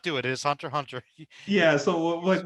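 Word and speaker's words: Hunter × Hunter: that way you know it's not hunter x hunter just hunter hunter yes i still get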